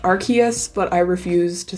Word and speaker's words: Arceus: And then last month, Legends Arceus came out. I know it's technically pronounced Arceus, but I refuse to say Arceus because it sounds way stupid, so I say Arceus.